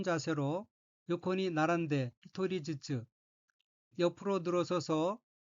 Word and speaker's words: 並んで: 셋째 줄 왼쪽에 어휘는 한자가 나란할 병자가 들어있고 일본어로는 나란데라고 읽으며 나란데는 줄을 서다, 늘어서다 라는 뜻의 자동사 나라부의 태형으로 나란데는 줄을 서서, 늘어서서 란 의미입니다.